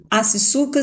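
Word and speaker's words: Assicuka: Acisuca se escreve A-S-S-I-C-U-K-A.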